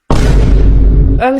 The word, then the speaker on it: homme: Homme, c'est s'écrit avec un H mais qui ne se prononce même pas.